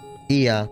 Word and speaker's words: Ea: When the vibration of vocal folds was still required to convey our thoughts and intention, Iya, I believe, was the pronunciation used when referring to our people.